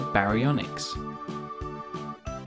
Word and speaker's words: Baryonyx: time for baryonyx how do you say that again ba re on x how big was a baryonyx it grew to be